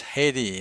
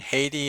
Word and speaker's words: Haiti: Haiti is two syllables. The stressed syllable is the first syllable, and I have uh, put the vowel of interest in capitals there.